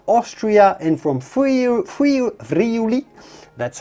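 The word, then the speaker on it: Friuli: the alps near austria and from freyja friu vriuli that's how it's said that's to the very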